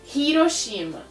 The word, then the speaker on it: Hiroshima: coisa tem muita gente que fala Hiroshima aliás acho que todo mundo do Brasil Fala Hiroshima mas na verdade a bomba caiu em Hiroshima Hiroshima é com essa letra que eles escrevem então eles pronunciam o h aqui no Japão por